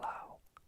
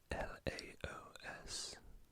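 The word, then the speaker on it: Laos: information that's Vietnam this is the flag of Lao l-a-o-s Lao pretty simple just some colorful stripes with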